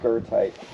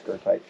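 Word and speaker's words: goethite: e there's no r in it but it's pronounced gerti um so those of you that will take minerology when you see it you'll know why she said gote but it's gerti alosine and alosine not aine you've had historical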